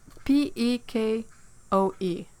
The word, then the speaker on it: pekoe: like a dot deco p PE k OE like orange pekoe like the T that's how she got